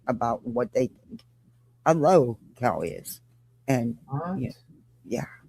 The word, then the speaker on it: lolcow: But this is Jonesin, and apparently she's upset because Nonsense did a live and is not pronouncing LOLCOW right. She's saying low cow instead of LOLCOW.